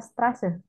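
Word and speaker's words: Straße: bukan di tapi ya karena itu yang huruf SS tapi mirip lambang huruf b ya ya Jadi dibacanya strase strase iya oke lalu ini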